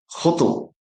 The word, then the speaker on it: hotel: It's actually a French word. So it has two syllables. Many words that uh originated in the French language have two syllables. Let's speak about them. Cruan boutique boutique restaurant hotel. It's not hotel like many people say.